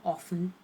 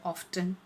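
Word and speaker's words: often: force करके बोलते हैं ऑफ्टन right there is a particular pressure on टी तो दोनों ही तरीके से सही है ऑफन कहे या ऑफ्टन कहे ऑफ्टन जो पर्टिकुलर प्रोनाउंस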